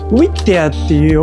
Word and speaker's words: Whittier: Apparently it's pronounced "Wittia".